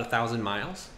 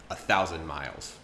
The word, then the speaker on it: thousand: I don't know about a thousand miles so notice she didn't pronounce the d and she had an um sound at the end a thousand miles up next we have